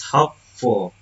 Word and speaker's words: hopeful: For example, one from the text is hopeful. The base word is hope, the derived word to hopeful, the suffix is full. The primary stress remains on the first syllable of the base hope.